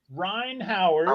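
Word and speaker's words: Rhyne Howard: Ryan Howard is the way to pronounce it.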